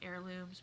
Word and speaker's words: heirlooms: least in england that people would be pronouncing the h on heirlooms but they do not it is the silent h across all english variations so it's hedgecraft heirlooms but it looks like